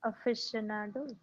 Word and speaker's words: aficionado: Aficionado.